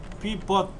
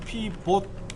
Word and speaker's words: 피봇: 피벗, 다른 말로는 피봇, 영어로는 이렇게 써요. 피봇 이렇게 써요. 피봇 발음이 그래요.